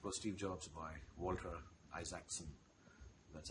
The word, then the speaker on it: Isaacson: And there's, of course, Steve Jobs by Walter Isaacson. That's how it's pronounced.